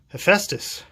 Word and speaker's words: Hephaestus: Well, by the way, I did Google, actually I didn't Google, I DuckDuckGo search, and this is pronounced Hephaestus.